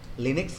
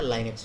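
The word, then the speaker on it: Linux: Pronunciation सही होना चाहिए बाबू, लिनक्स नहीं होता है, लाइनेक्स होता है।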